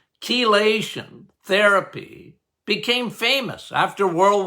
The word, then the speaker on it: chelation: that ke okay again pronounced with a K but it's ch kation therapy became famous after